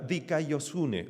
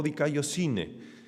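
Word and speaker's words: δικαιοσύνη: La palabra en griego, que aquí está traducida como justicia, es la palabra dikaiosune o dikaiosine. A veces se puede pronunciar de una forma o la otra.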